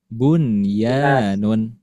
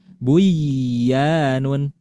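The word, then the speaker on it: بُنْيَان: Jadi dibacanya bunyan. Oke. Tidak dibaca buyanun.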